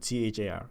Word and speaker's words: char: can be a character a char or a car how are we going to pronounce it CH AR that data type a char and int a short